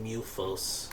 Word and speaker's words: Mythos: You see Mythos, but they call it like Mufos. They do the same thing in Princess Tutu. They spell it Mythos, but they pronounce it Muto.